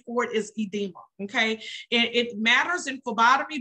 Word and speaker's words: edema: My next word is pronounced edema.